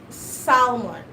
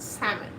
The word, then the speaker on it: salmon: it right but then back home we say it solomon we say salmon back home but i know how american pronounce it salmon but we call it